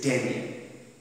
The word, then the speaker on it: Digne: Today, I will do this particular lesson by the title of The Bishop of Digne, pronounced as The Bishop of Digne in French, spelt as D-I-G-N-E, but pronunciation is Digne.